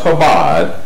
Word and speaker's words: Chabad: Okay, and this is what we started with: the Jewish false gospel of salvation, the 7 Noahide laws, and the Chabad, that's pronounced Chabad, Lubavitch movement.